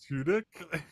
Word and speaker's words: Tudyk: I always pronounce this dude's name wrong. Alan like Alan Tudyk?